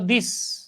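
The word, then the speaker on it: this: এই শব্দটার উচ্চারণ ছিল দিস, দয়রস্যি আর ছ, দিস। এই যে যারা আলিফ বা তাসা পড়ছো, দিস, হ্যাঁ, যে জিহ্বার আগা উপরের দাঁতের আগার সাথে লাগায় উচ্চারণ করছি না, হ্যাঁ, অনেকটা এরকম আর কি, দিস। আর এটা হলো যে অনেকটা অনেকটা জিমের মতো উচ্চারণ, কই গেল, এটা উচ্চারণ হচ্ছে দিস।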